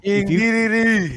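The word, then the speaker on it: King Dedede: King DDD. D, you got three, baby. You got three D syllables in there.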